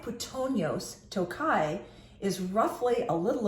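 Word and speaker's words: puttonyos: When you see a Tokai wine and you see the word Patronus, or I should say Pitonios, I was pronouncing it wrong, Pitonios.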